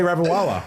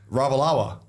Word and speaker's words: Ravalawa: That was a great pronunciation of that name. What, Ravawala? That's not it. That's not it. Macaulay Ravawala. That's not it. You are saying it wrong. How do you say it, Toby? Ravalawa.